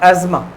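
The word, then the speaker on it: asthma: होना ही suffers from अस्मा ठीक है generally pronounce like एस्मा he suffers from एस्मा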